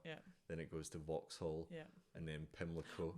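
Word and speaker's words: Vauxhall: box voxel it's not voxel Vox Hall it's not voxel it's not VX o voxel no I'm saying without like the pronunciation on the H I know but you should say the H no I mean potentially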